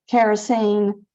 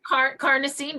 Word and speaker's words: Carnosine: I also have him on the kerosene, or I'm hoping that's how you pronounce it. Carnosine, but that's it.